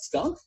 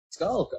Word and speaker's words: skulk: How do you say that? Skunk? Oh, no, Skulk.